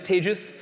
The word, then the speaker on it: tagis: who don't know me my name is tagis that's pronounced like contagious um and I guess in England it's pronounced like contagious in it um are we doing